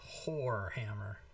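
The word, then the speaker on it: hoar hammer: It's spelled whore hammer. the H is silent. Notice H-O-A-R.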